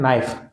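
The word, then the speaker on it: knife: Next है नाइफ, तो नाइफ में के साइलेंट है, के का उच्चारण हम नहीं कर रहे, तो यहाँ आ जाएगा के।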